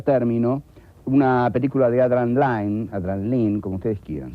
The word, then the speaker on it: Lyne: Vamos a ver, en primer término, una película de Adrian Lyne, como ustedes quieran, se escribe Line con Y, Adrian Lyne.